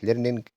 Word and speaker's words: learning: خامس نقطة عايز أكد عليها إن كلمة learning أو أي كلمة آخرها ing ما بننطقش الجي اللي في الآخر، فهيبقى كلمة learning هنقول learning learning learning.